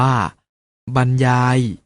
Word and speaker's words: บรรยาย: พร้อม ๆ นะ ครับ รอ หัน คือ อักษร ร เรือ ที่ เรียง ซ้อน 2 ตัว และ ถ้า ประสม พยัญชนะ จะ ออก เสียง เป็น อัน เช่น คำ ว่า บรรยาย หรรษา กรรไกร พระ ขรรค์